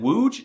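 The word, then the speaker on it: łódź: If you said wooge, you're correct. Congratulations. See, it was easy. You see, the L with a stick going through it makes a W sound. And the O with the kilbasa makes the ooh sound.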